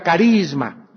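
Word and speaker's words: χάρισμα: la palabra Don es la palabra griega charisma se pronuncia carisma ya viene la palabra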